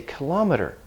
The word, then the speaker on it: kilometer: but now we say kilometer where it's adopted a Latin stress pattern the stress is moved so both are correct